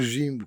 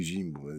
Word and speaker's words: nzimbu: kikongo e e quimbundo em zimbo ou zimbo ou Jimbo que H quem pronuncie Jimbo zimbo para a história do